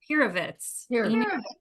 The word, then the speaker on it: Pirovitz: Ineka Menken pronounce the last name again. Pirovitz. Pirovitz, yes.